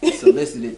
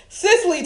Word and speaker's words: Cicely: Solicited Tyson. Then you gonna get her name wrong. Cicely Tyson.